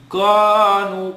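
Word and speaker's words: كَانُوا: And the u, when we're going to stretch it for 2. So kaf is for 2, noon is for 2, and the lam that's preceding after it is for 2 as well.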